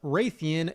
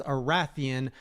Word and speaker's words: Rathian: The first is that it's not pronounced Raytheon, it's Arathian.